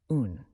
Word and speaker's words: un: Number 1 in French is un, pronounced like in.